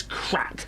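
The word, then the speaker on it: craic: am I yeah C so it's spelled c but it's crack and it doesn't mean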